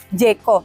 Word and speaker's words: Jaecoo: Kan masih banyak yang bingung pronunciation itu apa sih? Jaiko. Jaiko atau apa?